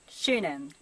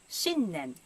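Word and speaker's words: 新年: It's not shunen, but shinnen, new year.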